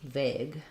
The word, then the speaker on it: vague: Like the word vague.